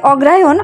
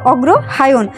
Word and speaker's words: অগ্রহায়ণ: হয় অর্থাৎ অগ্র আয়ন অর্থাৎ আমরা যেটা বলি যে অগ্রায়ন অর্থাৎ আমরা একসাথে বলতে বলতে একরকম অগ্রায়ন হয়ে গেছে কিন্তু এটার আসল উচ্চারণ হবে অগ্রহায়ন অর্থাৎ যেটা প্রথমে শুরু হয়